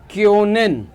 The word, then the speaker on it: können: Pronunciation देख रहे हो, यू विथ जो उमलाउट है और ओ विथ उमलाउट है, इसकी साउंड नॉर्मल यू और ओ की तरीके से नहीं आती।